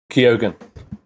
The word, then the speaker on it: Keoghan: Keoghan.